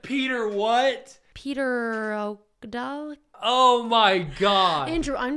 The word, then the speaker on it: pterodactyl: Petrocdal? Petrocdal? Wait, how do you say that dinosaur? Oh, pterodactyl.